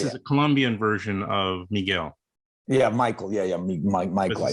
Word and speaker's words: Miguel: So it's just Miguel.